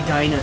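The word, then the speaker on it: Diana: Which at this point I know we're not playing as Ollie and Deana anymore. Or should I say Daina, since that's how they pronounce it in this one.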